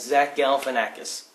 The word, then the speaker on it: Zach Galifianakis: Birdman starring Michael Keaton, Edward Norton, Emma Stone, and Zach Galifianakis.